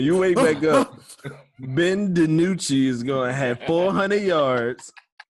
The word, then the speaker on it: DiNucci: Ben DiNucci. Why you say it like that, John? Why? That's his name. DiNucci. That's how you gotta say Tell it.